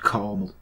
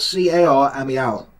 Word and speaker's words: Carmel: and called it Mount Carmel. Now, Americans, it's spelled C-A-R-M-E-L, Carmel, right? Not caramel, which you call Carmel, because you can't speak properly.